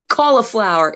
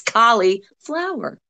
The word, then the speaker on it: Collie Flower: my damn name wrong it's not the vegetable people it's not cauliflower it's collie flower separate okay that's it but